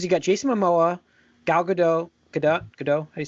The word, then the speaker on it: Gadot: got Jason Momoa gal gadot Kedah Godot are you saying him I think she says he pronounces the T yeah yeah did you